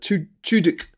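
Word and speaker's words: Tudyk: well I I think how's it pronounced T Tu uh t chuk uh yes that's uh that's who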